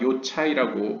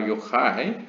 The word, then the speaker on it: Yochai: 그래서 이제 최근 한국 언론에서 랍비 시몬 바르 요차이라고 발음하시더라고요. 근데 이제 많이 헷갈려 하십니다. 이 CH 발음이 보통 우리가 배운 영어로는 차이니까요. 그렇지만 이제 히브리어에서는 CH는 거의 항상 하이라고 읽으시면 됩니다.